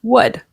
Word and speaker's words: would: verb behind it and be careful the L is not pronounced it's actually pronounced like this word here would would would they're both